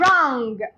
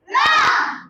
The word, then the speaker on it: wrong: r w is silent W is silent wrong wrong rest rest right wrong w r w is